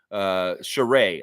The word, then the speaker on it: Sheree: Sheree, I should pronounce this right. It's Sheree.